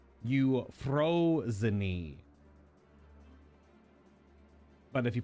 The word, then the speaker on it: Euphrosyne: on the actual pronunciation everything in here is Greek so very specific every vowel is combined with the the consonants so it should be